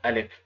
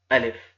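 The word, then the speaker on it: ألف: it can be pronounced Alif. The pronunciation is written down Alif. It doesn't any difficulties and any hurdle. It can be pronounced simple Alif.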